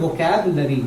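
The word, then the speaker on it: vocabulary: और वोकैबुलरी, इसको क्या बोलते हैं, वोकैबुलरी, इसमें यू साइलेंट है, साइलेंट खुद ही आप देख लीजिए।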